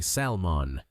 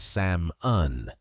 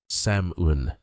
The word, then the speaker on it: salmon: This one is very tricky because the spelling has a silent L. Many learners say salmon, but the L is never pronounced. The correct pronunciation is Samun.